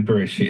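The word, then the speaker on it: בראשית: They said, how should we pronounce the letters Bet, Resh, Aleph, Shin, Yud, Tav? Maybe it's Bara Ashit, or maybe it's Buru Ushit. And they just decided arbitrarily Bereshit.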